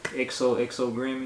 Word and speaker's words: XOXO Grim: We got XOXO Grim in here.